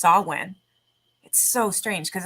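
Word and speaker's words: Samhain: the mistake of calling it that to uh Sam hang it's actually pronounced sawwin so strange because it's not even spelled like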